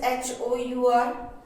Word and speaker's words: hour: It is H-O-U-R. So how will you say it? Hour.